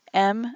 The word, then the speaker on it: em: in some case M's m and M unit is it's it's pronounced M but it's e/m if you're writing it out an M unit of